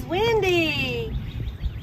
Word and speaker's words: Wyndi: This is Wyndi. And it's spelled W-Y-N-D-I for Tinkerbell's Wyndi.